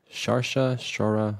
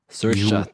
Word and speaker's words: Saoirse: I keep forgetting how I pronounce her name. Shara Ronan. Guys, Saoirse.